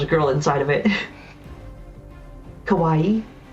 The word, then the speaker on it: kawaii: Kawaii. Like Hawaii but with a K.